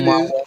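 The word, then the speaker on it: ʻOumuamua: It is Amumawa.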